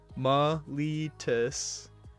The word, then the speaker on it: Meletis: I don't feel like it should be pronounced that way, but that is the official Magic the Gathering pronunciation we learned. Meletis.